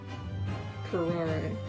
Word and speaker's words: curare: Curare, okay.